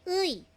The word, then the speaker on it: 의: So ag ito po ay nasa unahan nasa start po ng isang word start of the word ang pronunciation po ay uy.